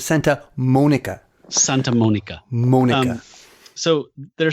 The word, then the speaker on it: Santa Monica: It's Santa Monica.